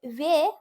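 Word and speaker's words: वे: তো যাই হোক, যে ওয়ে ভাগে, এই জন্য আমরা বে ভাগে বলছি না, ওয়ে বলছি, ওয়ে, যেহেতু ও উচ্চারণ হয়। যদি শুধু ব থাকে তাহলে ও হয়, হর্ষ ও। এখানে যেহেতু বয় একার রয়েছে সেজন্য ওয়ে বলবো, হর্ষ ওয়ে, ওয়ে বলবো।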